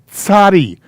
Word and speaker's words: tzadi: This letter is called a tzadi. The sound is T, TZ.